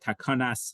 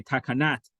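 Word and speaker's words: תקנת: Now you could say, and I say this partially in jest, is that we know that the Sephardic pronunciation wouldn't say the word takanas chachamim. They would say takanat chachamim.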